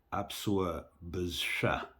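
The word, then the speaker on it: Апсуа бызшва: А, В следующий раз говори так. Апсуа бызша, бызшва. апсва, бысшва. Да, ударение на последний слог.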